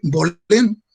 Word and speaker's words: Baulén: Hay 4 generaciones de Baulén, como se pronuncia en francés, que se establecieron en Saint-Malo.